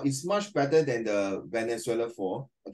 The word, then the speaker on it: Venezuela: Thirdly, I would also like to go to Venezuela. No, it's pronounced as Venezuela. Venezuela, as it is where the biggest waterfall is located.